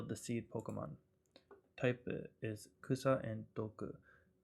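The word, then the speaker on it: 草: Now normally this kanji is pronounced kusa, as in, and it means grass, weed, or herb. But if you look under the details, you can see that its onyomi, one of its readings, is soul.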